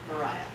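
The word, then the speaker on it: Myryha: It is pronounced like Mariah. Mariah, you gotcha. Words are hard. Well, it's spelled M-Y-R-Y-H-A.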